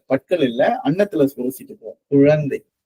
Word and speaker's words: குழந்தை: குழந்தை குழந்தை குழந்தை குழந்தை குழா குழந்தை. இந்த பற்கள் அந்த அன்னத்துல உரசிக்கிட்டு போவோம். ழகரம் ழகரம் சொல்லும் போது உரசி சுழித்து போவோம்.